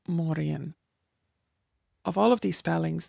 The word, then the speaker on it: Mórrígan: So, in modern Irish, what we would say is Mórrígan.